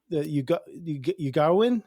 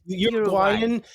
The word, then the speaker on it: Uruguayan: This is centered around the Ugaruan. Is that, oh my God. Is that how you say it? Uruguay. Ugaruan. Yeah, you mean Uruguayan 1922 Andes flight disaster.